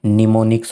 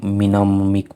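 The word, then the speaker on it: mnemonic: निमोनिक्स हो जाएगा। निमोनिक हो जाएगा भाई। ठीक है? क्योंकि इसमें एम साइलेंट होगा भाई। कदे कोई सीधा मिनमिक पड़ जाए।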